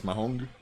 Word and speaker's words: mahjong: Do you know how did you know that I used to say mahjong as mahong? Of course you did. I mean, that's a Spanish like thing, right? Like your brain would just naturally incline. Mahong.